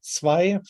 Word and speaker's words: zwei: So for instance, the German word for two is zwei, transcribed like this. So we have this affricate sound at the beginning, which is clearly cognate to the English T in two.